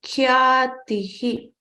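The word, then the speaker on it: ख्यातिः: Khyatihi has k and y together. And then there's a long a matra attached to it. Kya and then the t plus i. Ti. And then with the ti, we add a visarga, 2 dots. Then it becomes khyatihi.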